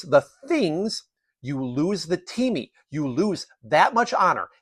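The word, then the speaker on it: τιμή: There was a cultural concept in ancient Greece called time, spelled in English T-I-M-E, pronounced time.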